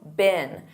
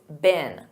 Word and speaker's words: been: Past participle been. And notice that pronunciation in American English, it's been. Been.